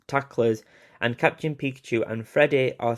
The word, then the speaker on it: Friede: I think it's spelled Friede. I think that's meant to be said Freddy.